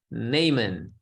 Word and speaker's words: Naaman: Not a horseman, Naaman, but just Naaman. Okay. Even though the horse does says Nay. Rhymes with Nathan. Nathan? No, not Nathan either. It rhymes with him. Nathan is a Nathan man. This one is just Naaman.